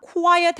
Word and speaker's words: quiet: quiet 할 때 QU 스펠링으로 보통 표현되는 저 단어는 quiet, 카가 아니라 고와 나눠서 발음해 주시는 게 좋고요.